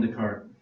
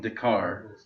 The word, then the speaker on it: Descartes: need a heart attack descartes is also a weird pronunciation for most people modern frenchmen would call him descartes which is correct fancy matthew will call him dakar because that's the old fashioned french word for it it's all the